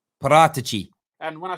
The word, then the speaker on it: Paratici: It's Paratici. Paratici. See, that's hard to say. Yeah. So in Italian, CI is pronounced chi. So chi. Paratici. Paratici.